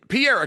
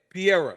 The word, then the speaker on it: Pereira: tell me his name Pier just like George St Pierre but then add a a pier uh and that's exactly what Kenny floring told me Kenny screwed me on this one okay Pier he's the one that